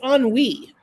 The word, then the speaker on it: ennui: It's ennui. It's spelled ENNUI, which is boredom.